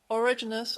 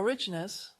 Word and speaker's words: Origenes: Now let's jump from Plato to Origenes, or Origenes, however you want to pronounce it.